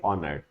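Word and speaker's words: honoured: क्योंकि एच तो साइलेंट होता है, तो ओनर कैसे बन जाएगा, एन आर को हाफ कर देंगे, ऑनर्ड।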